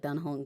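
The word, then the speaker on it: Dan Heng: um a common misspelling because since it's pronounced like Dan Hong because it's a Chinese but when I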